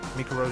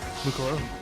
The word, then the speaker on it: Mukuro: Mikuro who's dead? Mukuro? Damn, I keep getting the bloody name wrong.